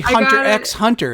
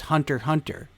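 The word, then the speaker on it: Hunter × Hunter: Because that apparently Hunter X Hunter is just Hunter Hunter. They don't pronounce the X.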